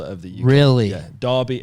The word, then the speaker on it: Derby: the year really yeah Derby Americans say Derby it's d-e-r-b-y okay kind of a